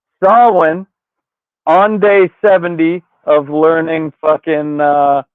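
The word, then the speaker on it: Samhain: They're trying to unleash Sam Hayne, which it's pronounced Sawin on day 70 of learning uh Gaelic on this side. Could have known that one for a while. Um and Sawin is just a season.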